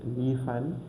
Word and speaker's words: liefern: So where you're seeing the ER in the beginning in the middle of the word between F and N, ER. So we remove it and we put an A. That's why we say liefern.